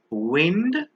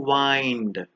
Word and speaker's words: wind: pair of homographs is wind and wind wind as we all know is a breeze but wind means to turn or twist something like a clock the next pair of